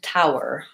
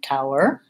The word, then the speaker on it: tower: question between towel and tower or how to pronounce those two words towel and tower Tao they both have the same first sounds which we I call that bow ow in IPA it